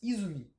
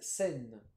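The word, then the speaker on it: 泉: Alors, je vois que, bon, en lecture purement japonaise, il se prononce Izumi. En lecture sino-japonaise, Sen.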